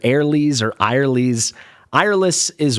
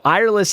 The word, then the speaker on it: Eirlys: Maybe we could also call her Airl is what it seemed to be to me when I looked up her pronunciation online. So, that's what I'm going with.